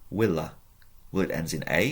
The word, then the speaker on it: villa: from the Latin word Pronounce W Willa well it ends in